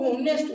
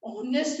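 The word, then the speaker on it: honest: अब दीपक बोला कि ऑनेस्ट नहीं, ऑनेस्ट होता है, हॉर्नर नहीं, ऑनर होता है, इसमें एज साइलेंट होता है।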